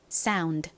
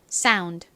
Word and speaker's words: sound: 약하게 소리가 나죠 그래서 사운드가 아니라 사운 sound 이렇게 약하게 드라고 발음해 주셔야 합니다 따라해 보실까요 sound sound 좋습니다이 단어를 한국식으로는